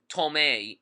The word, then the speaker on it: Tomei: this movie um um tomei even though it's spelled Thomas arm the performances in